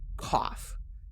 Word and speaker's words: cough: Our first word is koff. COUGH. Koff. It rhymes with off.